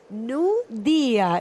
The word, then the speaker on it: Nudia: Nudia is how you say it. His surname's been pronounced so many different times.